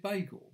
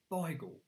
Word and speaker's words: beigel: some people pronounce it bagel but only if you're posh it's bigel because it's a yiddish word it comes from uh the mid european places it's a mixture of